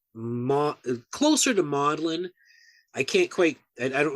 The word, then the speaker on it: Magdalen: which is spelled Magdalene but it's pronate was pronounced closer to modeling I can't quite I don't remember the exact